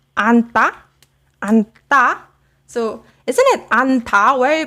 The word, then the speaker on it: 안다: But as for now, you can remember that hug, the base verb of hug, is pronounced anta. So yes, anta is a combination.